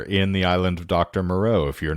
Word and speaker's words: Moreau: Monroe. Richard Stanley. Yes. He disappeared off the map because that movie was... Well, that would be Moreau, but we'll not split hairs.